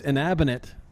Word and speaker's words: Inabinate: It's Inabinate. Yes. I've been saying it wrong all day. It's all right. It's like cabinet.